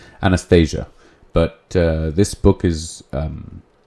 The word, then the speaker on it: Anastasia: And this was a book called Anastasia, which I've heard is the correct pronunciation. Not exactly, but the accent. Anastasia.